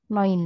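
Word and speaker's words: neun: sat sudah benar eh sedikit kesalahan pengucapan pada angka 2 dan 9 untuk angka duai untuk angka 9 Noin Ya silakan nomor selanjutnya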